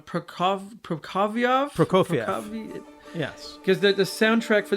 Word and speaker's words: Prokofiev: And other than the brandy, there was the connection of, I'm going to say the name wrong, Prokofiev?